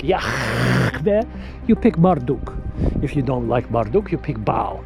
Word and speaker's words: Yahweh: His name is Yahweh. That's how you pronounce it. Yahweh.